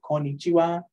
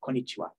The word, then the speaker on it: konnichiwa: means hello basically and the wa is a particle that kind of stuck into that and even though it's written differently keeps that sound so konichiwa Ohio is for the morning konnichiwa is for kind of